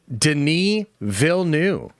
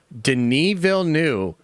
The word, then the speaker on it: Denis Villeneuve: Denise Vilne, Denise Vilne, who made Dune 2. so good that I went to go find out how to actually pronounce his name. Denyville knew this guy